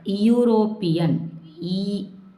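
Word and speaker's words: European: இப்போ இந்த இடத்துல வந்து யூரோப்பியன், யூரோப்பியன்னு நம்ம சொல்ல மாட்டோம், யூரோப்பியன், ஒய்யூ.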